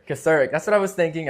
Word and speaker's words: Kocourek: It's Kocourek. Kocourek.